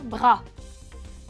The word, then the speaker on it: bras: elle a eu un bras le bras brand qu'il met à tout et à tout le pérou death bras avec s on ne prononce pas le s et ses singuliers donc